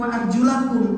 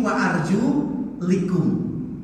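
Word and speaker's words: وَأَرْجُلِكُمْ: Maka membacanya bukan wa arjulakum, tapi wa arjulikum.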